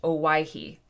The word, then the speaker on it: Owyhee: Auntie Ann says it's pronounced Owyhee.